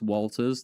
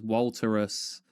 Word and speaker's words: Walters: Me switching it to Walt become better because people would mispronounce Walters. they would pronounce it as Walterus and stuff and then when it